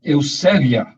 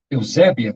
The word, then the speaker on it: Eusébia: Foi usado na língua grega, grega, a palavra Eusébia, ou Eusébia, como nós dizemos na pronúncia mais brasileira, né?